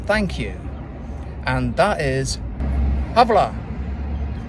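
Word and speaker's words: hvala: you and that is havla have La I kept saying it but it's it's almost like voila but you've got to get ah sound and that is really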